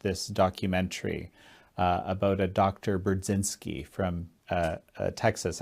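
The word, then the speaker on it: Burzyński: Brudzinski from Texas. Actually, in Polish, you would say his name Budzinski, but that's how I always thought it.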